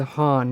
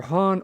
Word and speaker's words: Han: this outfit here for han or filet i know the answer and that's what caused all the controversy i will not spoil it for you but it rhymes with uh flan so the main controversy